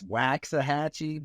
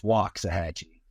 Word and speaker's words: Waxahachie: So if you're asking Surrey, it's Waxahachie, but if you're local, it's Waxahachie. Waxahachie. Like there's an Indian chief that that we're the Waxahachie Indians.